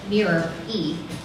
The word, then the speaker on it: Miri: Miri, pronounced Mirror-E, and Ranthan, pronounced Ran-Thun, are next to the robot talking.